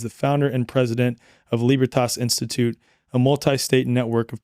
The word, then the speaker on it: Libertas: There would be the more Germanic, like libertas or libertas, right? Or the more kind of Italian romantic derivative of Latin, which would be libertas.